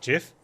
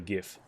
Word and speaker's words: GIF: It's pronounced GIF. Yeah, I agree. It's not GIF. You can be triggered all you want. The guy who made it calls it GIF.